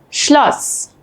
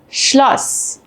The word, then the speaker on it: Schloss: While both are pronounced the same unvoiced S, they affect the vowel before them. A double S shortens the vowel and an SZ lengthens the vowel.